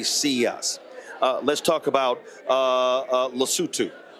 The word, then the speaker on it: Lesotho: So in his speech, he literally mispronounced the country. Then folks started to actually laugh in the room. It's called Lesotho.